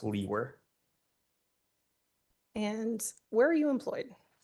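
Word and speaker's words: Liewer: last name and my last name is spelled l-i-e-w-e-r and it's pronounced Lee were and where are you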